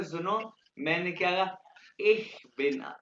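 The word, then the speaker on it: ich: सुनो मैंने क्या कहा इ बिना इ ये इसमें शीन और ख की आवाज है इ बिना इ ये शीन और ख मिक्स है लेकिन आपको ये कहने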